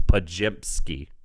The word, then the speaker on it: Podziemski: Talking about funny pronunciations, Stephen G told me it's Podziemski. Podziemski?